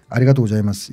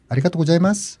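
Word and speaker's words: ありがとうございます: 그러니까 그게 예를 들어서 그러니까 우리처럼 말하면 아리가또 고자이마스 이게 맞는데. 그런 분들이 발음하면 아리가또 고자이마스 이렇게 되는 거예요.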